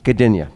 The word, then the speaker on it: Gdynia: How's that pronounced? Gdyn? Gdynia? Yeah, Gdynia. Gdynia.